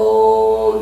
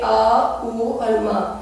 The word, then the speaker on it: ओम: आप देखते हैं कि हम ओम का उच्चारण ओम से करते हैं हमें ऐसे नहीं करना है हम ऐसे करेंगे आ ऊ और म इस तरीके से जैसे आ की आवाज आपकी नेबल सेंटर आपके एब्डोमेन से आएगी और उ की आवाज आपके चेस्ट एरिया से मा की आवाज आपके थ्रोट एरिया से सो हमें इस तरीके से